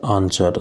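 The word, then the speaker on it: answer: Next question is which is the silent letter in the word आंसर। आंसर शब्द में कौन सा एक मूक अक्षर है? तो आंसर शब्द में जो साइलेंट लेटर है वो है हमारा W।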